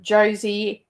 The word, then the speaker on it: Josie: It's pronounced Josie, as in Josie and the Pussycats.